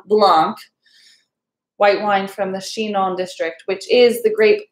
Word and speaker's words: Chinon: i n o n shinon pronounced like she and then non um that's that's just